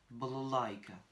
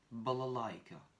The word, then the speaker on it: балалайка: I kratkaye, K, A, avec une accentuation sur le A qui précède le I kratkaye. Donc le premier A, le second A et le dernier A vont se prononcer très réduit. Balalaïka, balalaïka, балалайка.